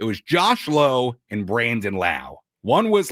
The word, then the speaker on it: Lowe: It was Josh Low and Brandon Laauo. One was Lao, one was low. Brandon rhymes with now.